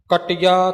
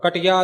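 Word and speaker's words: ਕਟਿਆ: कुसा कटिया वार वार कुसा बिल्कुल पला बोलया जावेगा कुसा नहीं कटिया थोड़ा ज अधिक लग के उच्चारण होवेगा कटिया नहीं उर कुसा ज ओ पोला होवेगा कुसा नहीं कुसा कटिया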